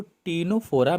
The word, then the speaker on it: Ctenophora: तो टीनोफोरा में जो सी है ये सी साइलेंट है।